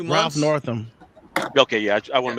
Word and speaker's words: Northam: Northam.